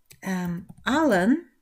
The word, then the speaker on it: allen: Dit is vooral een verschil in uitspraak. Afhankelijk van jouw moedertaal zal dat gemakkelijker of heel moeilijk zijn. En dan gaat het om de letter e. E. Allen, e, allen. En alleen. Allen, alleen. Dus de e gaat langer